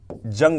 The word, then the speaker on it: Jung: पता होना चाहिए कि इनको अंग्रेजी में कार्ल जंग लिखते हैं, JUNG। क्यों लिखते हैं और क्यों इसका उच्चारण ऐसा है ये मैंने आपको बता दिया।